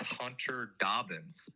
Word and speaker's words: Hunter Dobbins: can you guys hear him give me the pronunciation of Hunter Dobbins it's Hunter Dobbins that's what I've been saying how about been